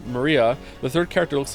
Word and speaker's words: Maria: right her name is written of course it's pronounced Maria the third character looks like a cross which